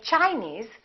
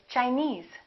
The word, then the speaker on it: Chinese: suffix for example Chinese we don't say Chinese we say Chinese Japanese Portuguese alright here's